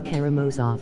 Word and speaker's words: Karamazov: or the brothers has more off The Brothers Karamazov oh I know say it right and you